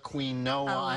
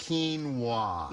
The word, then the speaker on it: quinoa: now when i first saw it i was pronouncing it quinoa queen noah a lot of people do that quinoa and it's healthy why it is so healthy